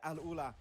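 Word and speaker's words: AlUla: Circle going to be great for Al Ula, which by the way, Mao and Arabic caster helped me pronounce it properly. So, thank you very much, Mao. Yeah, Al Ula.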